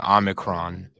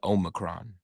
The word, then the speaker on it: Omicron: Like all media outlets are saying Omicron, but it's actually Omicron.